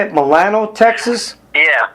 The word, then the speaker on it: Milano: But you actually live in, how do you say it, Milano, Texas? Yeah, Milano, Texas.